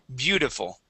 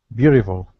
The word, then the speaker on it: beautiful: Beautiful. Beautiful. Wait, I don't pronounce the T. The T will switch to a D, and that I needs to be a short I sound instead of beautiful.